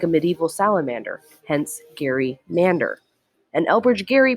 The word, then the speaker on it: gerrymander: when i'm with colleagues i'm often the only person who resorts to gary mander but i'm fighting the good fight i think it's the right pronunciation and it does justice